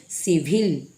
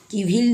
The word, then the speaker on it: civil: Next देखिए CIVIL, सिविल, सिविल, किविल नहीं, सिविल, क्योंकि सी लेटर के बाद आई आया है।